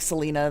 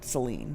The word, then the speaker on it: Selene: pronounced Selena. Selene? Yeah. Selena? More like Selena than Celine.